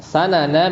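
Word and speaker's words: سَنَن: Sanana bi fathis sin bimakna thariq ya tadi ya. Jadi kalau sanan itu dibacanya sinnya pakai fathah, itu maknanya thariq, jalan ya, maknanya jalan.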